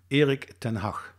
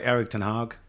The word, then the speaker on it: Erik ten Hag: First of all, can you teach us the right pronunciation? Erik ten Hag. Okay, we'll have to practice that. No, but you should, in Norway, you should be able to pronounce it easy. Erik ten Hag.